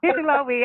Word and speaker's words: Hi'ilawe: And this one is Hi'ilawe. Am I pronouncing that correctly, Tanya? Hi'ilawe? Oh, most definitely. I would know, especially. Yeah. Hi'ilawe.